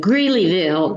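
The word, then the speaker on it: Greeleyville: It's spelled Gleyville.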